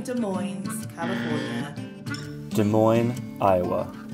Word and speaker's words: Des Moines: Des Moines, Iowa. You just don't pronounce the S.